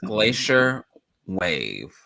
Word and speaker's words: Glacier.WAV: for you um frank and jaime are with glacier wave did i say it right yeah correct okay we spell it weird because we think we're like edgy